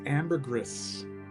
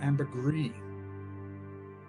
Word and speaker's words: ambergris: The idea that Thierry Wasser would take these floral elements, particularly the rose and the incense and this ambergris or ambergris. I still want to pronounce it ambergris based on the book Floating